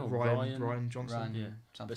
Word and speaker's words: Rian: No, it's Um, Rian or Ryan Ryan. Johnson. Ryan Yeah. But something. it's spelled like Rian. I think it's Ryan.